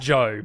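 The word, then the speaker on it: Zhou: let's go through them the cash now it's pronounced Joe but I imagine he wants to pronounce the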